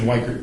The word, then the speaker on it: Weichert: Joe, I'm going to give you the Midwestern pronunciation, Weichert. I think it's Wichert. I grew up with Weicherts, spelled the exact same way.